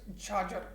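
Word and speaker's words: chachar: c h a c a r but the pronunciation is charger means the land which was cultivated every three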